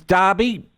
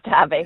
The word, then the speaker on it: Derby: And it's Darby, Doctor? It is Darby. It's spelled Derby, though.